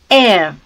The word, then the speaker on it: air: Air. Air. R sound is not there and it is pronounced as air.